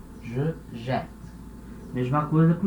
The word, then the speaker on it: jette: Então, no infinitivo eu tenho um T só, aqui eu já tenho dois T's, e aí o som fica E. Je jette.